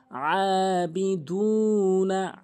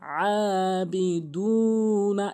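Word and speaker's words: عَابِدُونَ: জবর খারাজের উল্টাপ কিন্তু এক আলিফ টেনে পড়বেন আবিদুনা আবিদুনা এভাবেই কিন্তু পড়বেন তাহলে শুদ্ধ হবে দাল অবশ্যই শুধু এক আলিফ টেনে পড়বেন নুন আলিফ জবর না হরকত দ্রুত পড়তে হয় আবিদুনা মা মিম কিন্তু তিন আলিফ টেনে পড়তে হবে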